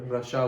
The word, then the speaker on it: Russia: Coming to the next one, the last one, 10th, RUSSIA, रशिया, रशिया ये बोलते हैं? नो, इट is wrong. रशिया नहीं बोलते, उसको बोलते हैं रशा, रशा, रशा। The real pronunciation is that रशा, रशा, रशा।